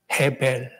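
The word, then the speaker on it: 헤벨: 해벨. 우리가 잘 아는 아벨입니다. 아벨. 네. 원래 발음대로 하면 해벨입니다.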